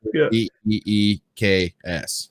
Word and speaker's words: Deaxz: Well, I usually just say DEAXZ now. That's perfect. Like, say DEAXZ, and I'll even spell it like if I'm adding you, I always just DEEKS. I'm like, yes, yeah. That's the way. That is the correct way that's the correct way to pronounce the made up word that is my name.